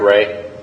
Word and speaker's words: Ray: Am I pronouncing your last name correct? Ray? Yes, sir. Okay. Hey, your first one in a long time. Okay. Well, I knew some people named Ray. So, I knew that's how they pronounced it.